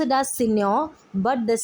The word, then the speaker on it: Signor: of senor kando s-i-g-n-o-r space c-a-n-t-u we uh pronounce it as senior but the spelling is signored okay it is